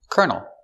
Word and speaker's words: colonel: he's a colonel and this word has the same pronunciation but this one makes sense kernel a kernel is a countable piece of corn this is one kernel of corn same pronunciation for Colonel this word has a